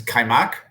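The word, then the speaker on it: kajmak: me a hint um there's a weird j in it that you that's there's a weird silent j in it is kaimak correct all right how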